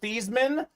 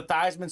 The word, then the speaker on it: Theismann: brought it up Colin his name should be pronounced Joe these men that's what it was growing up at Notre Dame they had him change it to Theisman so they can campaign Theisman for the Heisman and guess what it